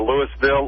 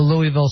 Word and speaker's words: Louisville: And if you're from out of town, you'll hear either Louisville or Louisville. I've always called it Louisville, like a Louisville slugger, right.